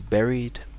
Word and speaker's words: buried: And this word too, very commonly mispronounced, sounds like bear reed. Could be like this, right? So the king is buried in the tomb.